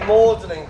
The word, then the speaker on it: Magdalene: got his head chopped off and it became Mlin College by Thomas or but it's spelled differently cuz he used the old French pronunciation of St.